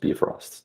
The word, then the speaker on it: Bifrost: It's pronounced Bifrost.